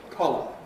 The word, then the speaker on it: collar: So long and short the vowel in a core has close lip rounding in modern RP and so on. Caller it is the most rounded vowel we have. Caller the shorter vowel in D is not so close and not so rounded.